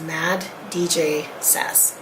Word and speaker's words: maddjsas: I read it as Mad DJ Sass because if you tried to pronounce that phonetically, it would sound weird.